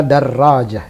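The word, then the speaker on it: درجة: memang begitu standar pembacaannya darojah pakai tasdid hal ini tidak benar kalau ada Rodja Hai yang benar adalah darojah dan dan tertulis disitu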